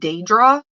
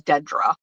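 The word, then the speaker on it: Dadra: Her name is Dra. It's D A D R A. Like, nobody ever pronounces it right. So, I try to be very conscientious about pronunciation. Um, because I got to tell you, for a really long time, she was Dedra.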